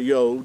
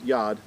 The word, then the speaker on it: yod: is a yad some in modern hebrew they refer to as a yod or but it is it is in ancient pale hebrew you would pronounce this letter as yad it actually represents your